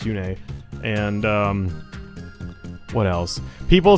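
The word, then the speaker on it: Yune: they they mkhaya has mkhaya calls Yoon a Yoon for some reason and in its hurt it's pronounced Yoon a and what else people say I'm getting back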